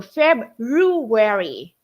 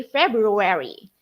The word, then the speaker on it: February: the word February now make sure teachers if you're going to read this you have the r sound okay so we are looking for that R sound in Rue so febuary okay February all right next often